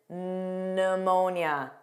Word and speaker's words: pneumonia: Psychology, psychic, psychiatrist, and pneumonia. That of course starts on an N sound.